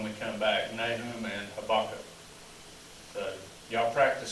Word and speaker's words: Habakkuk: So we might do those two books when we come back, Nahum and Habakkuk. So y'all practice saying Habakkuk while you're gone. Habakkuk. See, I can't even look. Habakkuk. Habakkuk, that's it, Habakkuk.